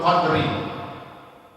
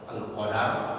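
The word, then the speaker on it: القدر: Suratul Qadari, Suratul Qadri. Jadi bacanya boleh dua bacaan. Boleh Al-Qadar, Suratul Qadar, surah Al-Qadar kan juga dalnya di fathah. Boleh dengan disukun dalnya, surah Al-Qadar. Lailah Qadri atau Lailatul Qadar.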